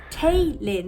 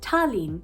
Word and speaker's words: Talyn: exist, or it was Talyn, which is the most common thing that I hear a lot of Americans say. I always say my name sounds like Charlene, but it's Talyn, and even then it